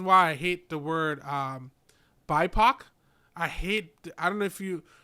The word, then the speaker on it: BIPOC: No, I mean I've always heard it as BIPOC.